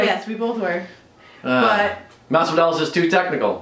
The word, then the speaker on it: Masvidal: Masvidal, thank you.